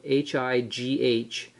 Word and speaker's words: High Rail: So it's spelled H-I-G-H R-A-I-L company.